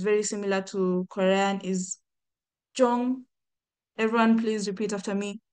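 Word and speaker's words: 中: And then another one that is very similar to Korean is Jong.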